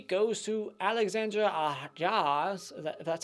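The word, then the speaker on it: Alexandre Aja: sleep is my number 4 number 3 goes to Alexandra jaws that's how you say his name crawl I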